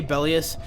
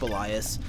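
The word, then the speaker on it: Belias: bias yeah I know I say belly 'us that's just habit I think it's actually pronounced Elias anyway we're gonna torch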